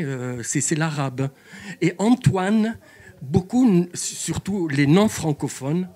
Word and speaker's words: Antoine: Alors il ils arrivent pas à ceux qui n'ont pas étudié des langues étrangères, ils arrivent pas à prononcer Antoine. Alors ils disent Anton à l'anglaise.